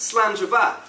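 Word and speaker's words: slàinte mhath: on the back of your aroma parts it's pronounced slander bar and so I'd like to propose a toast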